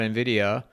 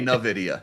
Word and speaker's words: Nvidia: A lot of people say Nvidia. Yeah, yes, it's Nvidia, yeah, Envy.